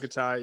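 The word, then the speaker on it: Tokitae: How you pronounce Tokite, it? Tokitai, yeah.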